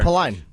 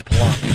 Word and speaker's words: Palin: know I'm still hearing it both ways there paline that's palon palon who's speaking tonight is she speaking tonight